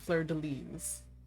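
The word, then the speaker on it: fleur-de-lis: That's how you say it, Fleur de Lis.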